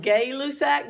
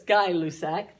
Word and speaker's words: Gay-Lussac: The next one, it looks like Gay-Lussac, but it's Guy-Lussac. That's how you say it.